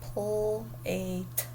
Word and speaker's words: plate: Here we have A, consonant, E. So we don't say the E, and the A gets a macron. Plate.